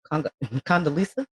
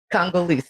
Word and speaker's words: Congolese: Condoleezza? Congolese.